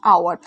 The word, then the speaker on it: hour: বলি, ঠিক আছে, আওয়ার, এইচটা কিন্তু কনসোনেন্ট বাট আমরা বসাচ্ছি কিন্তু অ্যান, কেন, উচ্চারণটা কি হচ্ছে আয়ের উচ্চারণ হচ্ছে, অর্থাৎ এর উচ্চারণ হচ্ছে, ঠিক আছে, সেই জন্য কিন্তু অ্যান বসছে।